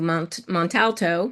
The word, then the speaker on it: Montalto: And that actually culminated in, before your tenure, we went to Montalto.